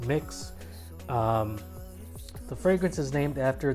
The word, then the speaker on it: Mx.: fragrance in the background it is pronounced mix i know it is mx period it is pronounced mix the fragrance is named